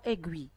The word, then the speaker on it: aiguille: Dans la première syllabe, la lettre I fait le son E. Donc, je vais écrire ce mot dans la troisième ligne. Et je vois la lettre I à la fin ou bien dans la deuxième syllabe. Gui. La lettre I fait le son I.